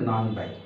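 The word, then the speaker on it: 何杯: নান high কয় glass কিন্তু নানের নর সাথে হলে উচ্চারণটা ব হয়ে যায় যেহেতু তাহলে এখানে হবে নান বাই নান বাই মানে কয়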